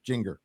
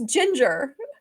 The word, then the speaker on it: Jinger: got Ginger Duggar or as I like to call her Jinger because her name is spelled with a Jinger how is that Jinger j-i-n-g-e-r Ginger no it's Ginger I didn't know